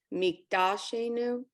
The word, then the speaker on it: Mikdashenu: The dalet has the dot on it. So Mikdashenu.